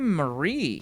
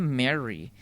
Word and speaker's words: Marie: Aunque pues por no mucho, es nada más la acentuación.